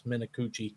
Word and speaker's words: Minicucci: I'm not gonna lie, I had to go to their pronunciation guide to get this, and you are correct. It's Minicucci.